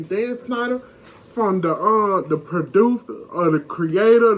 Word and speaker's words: Schneider: That's how you say his name, Dan Schneider, from the producer, the creator, the producer of iCarly and all them.